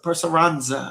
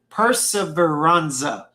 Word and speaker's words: Perseveranza: Perseveranza. Uh perseveranza. I've been saying it wrong the whole time. Perseveranza.